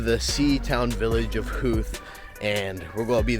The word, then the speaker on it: Howth: and today we are going on a day trip to Huth, I believe is the right way to pronounce it. But yes, we are going to the sea town village of Huth and we're going to